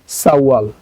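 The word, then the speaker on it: 사월: ওকে, আচ্ছা তারপর যেটা আছে এটাও কোনো উচ্চারণ পরিবর্তন হবে না, কারণ এটার নিচে বাচ্চিম নাই, এটা যা আছে তাই উচ্চারণ হবে সাওয়াল।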